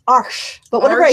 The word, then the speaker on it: Arches: a lot of really good ones I like arches which I guess is not a correct pronunciation that's how we stupid Americans pronounce it oh what is the correct pronunciation okay it's it's arsh but whenever I say it I feel like